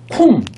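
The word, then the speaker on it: קוּם: 쿰. 자 제가 히브리어로 뭐로 읽는다고요? 쿰. 그죠? 이거 유대인들도 다 그렇게 읽어요. 뭐라고? 쿰이라고 읽어요. 자 쿰이라고 읽는데 요게 뭐예요?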